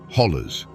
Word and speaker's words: holler: They are ancient eroded walls that create a labyrinth of valleys, ridges, and hollows, or as the locals say, hollers.